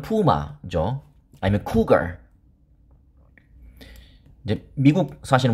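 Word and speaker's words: puma: 저는 어제 유튜브를 우연히 보다가 퓨마, 그러니까 발음은 푸마죠.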